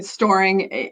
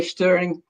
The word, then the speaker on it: Stoering: Storing, like you're storing nuts for the winter. I mean, if I'm in Europe, they say Stoering, so it just doesn't matter.